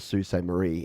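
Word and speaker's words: Sault Ste. Marie: See, if I remember Sue crew, I remember to call it Sue Saint Marie instead of So or Sa or whatever I pronounce it sometimes.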